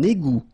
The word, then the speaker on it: égout: Un égout. Okay, little link between the two. Un égout. Final T not pronounced.